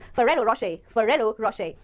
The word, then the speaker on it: Ferrero Rocher: So the right pronunciation is Ferrero Rocher. तो देखने में लग सकता है कि ये Ferrero हो, पर सही pronunciation है Ferrero Rocher. It is an Italian chocolate brand, okay?